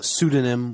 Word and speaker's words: pseudonym: this word we say pseudonym or in Britain they say pseudonym yeah the British people are British people yeah um in America we say uh pseudonym with no with no y just sudanim uh next let's